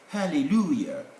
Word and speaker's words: hallelujah: then we come to this one hallelujah of course hallelujah is j but the sound is ye is an old sound